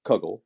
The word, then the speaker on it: kugel: research and the the the jewish dish kugel or kuggle as they were pronouncing it in the episode does derive from the